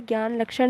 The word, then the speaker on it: ज्ञान लक्षण: दूसरा है ज्ञान लक्षण इसका स्पेलिंग GN लक्षण होती है पर इसको बोलते ज्ञान लक्षण है इसका मतलब होता है